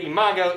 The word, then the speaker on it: imago: Do not think that's a long O ending. Everybody, imago, imaginus.